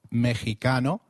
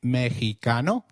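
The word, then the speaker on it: México: Did you notice that the X in Mexico is pronounced as H?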